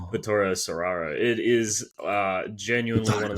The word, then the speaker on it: Vittorio Storaro: I want to pronounce that correct. Vittorio Storaro.